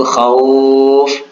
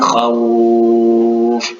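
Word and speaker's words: خوف: Nah, itu khauf, itu mad layyin. Kalau ada waw sukun, huruf sebelumnya berbaris fathah. Jadi cara membacanya itu kedengaran seperti bunyi u, bukan khauf.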